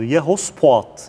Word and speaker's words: Yehoshaphat: Yehoshaphat yani İbranice farklı şekillerde telaffuz edilir ama geleneksel masoretik okuma Yehoshaphat'tır. Yehoshaphat denilen bir yerde olacaktır.